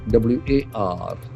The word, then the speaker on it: war: War, w a r. War. War. We can feel that the letter A has got O sound.